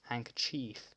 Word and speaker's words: handkerchief: Nobody pronounces the D in handkerchief, and for most people removing the second E seems obvious too, right?